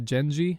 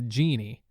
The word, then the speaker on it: Genji: The answer was the Tales of the Genji, and I said the Tales of the Genie.